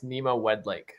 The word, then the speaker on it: Nima Wedlake: But Nima, do you want to help me with your pronunciation of your second name? Absolutely, yeah. It's Nima Wedlake.